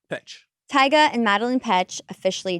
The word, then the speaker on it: Petsch: Is that how you say it? Yep, Petsch.